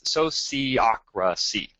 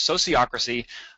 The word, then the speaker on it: sociocracy: It's sociocracy. So I'm going to give you a moment. All right. Hopefully everybody said that and we're all on board. So it's sociocracy.